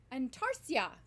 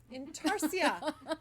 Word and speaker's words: Intarsia: is the way that Holly Intarsia? pronounces it. Antarsia. Intarsia.